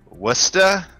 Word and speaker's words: Worcester: Could you pronounce that the way you're supposed to? Worcester.